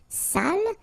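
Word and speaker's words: sale: without the accent so if you don't put the accent it means dirty and then you pronounce it Sal but in that case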